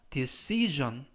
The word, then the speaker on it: decision: 하면 결정 또는 결심이라고 이때도 발음에 유의하실 것은가 g 발음이납니다 그래서 decision 이라고 발음하시면 좋겠고요 이때 make a decision